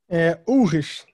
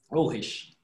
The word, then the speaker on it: Ulrich: É assim mesmo que pronuncia, Fernando? Ulrich. Ulrich.